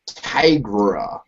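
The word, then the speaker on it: Tigre: it's called the uh it's t-i-g-r-e and it's pronounced Tigra or something it's very close to the word Tiger but it's not tiger it's tiger I don't know but uh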